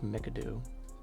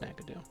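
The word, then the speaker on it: McAdoo: we have Bob macadoo this is how you spell it there's no it's like madoo but it's meado do next up James Worthy he's worthy of that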